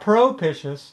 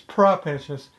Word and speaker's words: propitious: me first of all it's spelled PR o at the beginning but it's not Pro pitches its propitious and the other thing that's really unusual I think it ends in IOUs but it's not propitious is propitious so it's not four syllables like it looks like it might be it's three syllables as if it only ended in owe us you know if there wasn't that other eye there that's